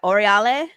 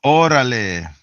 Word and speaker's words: órale: You pronounce that Oriale? Let's go. Órale. Orale, let's go.